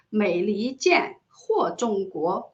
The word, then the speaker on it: 美離間禍衆國: Because the Chinese pronunciation of this is 美利坚或中国. It sounds very similar, it sounds very similar to the Chinese pronunciation for the United States of America, which is 美利坚合众国.